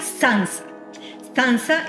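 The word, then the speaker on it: tsantsa: cómo pronunciarla pero en la investigación aprendiz se pronuncia sans danza es no el nombre como tal de la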